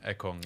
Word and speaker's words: Ekong: You're saying it right, Ekong.